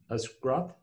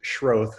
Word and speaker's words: Schroth: Our discussant is Scroth, and would you like to provide any comments, sir? Sure. It's pronounced Schroth, but no worries.